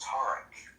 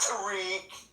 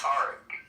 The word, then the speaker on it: Tarek: For those that don't know how to pronounce, it's pronounced Tarek Johnson. Not Tariq. But he's too polite. It's Tarek.